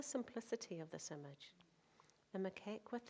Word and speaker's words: Macaque: Sri Lankan, how do you say that one? Macaque.